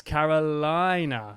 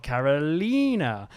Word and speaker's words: Carolina: But she said it's Carolina, not Carolina. It's named after my state, South Carolina.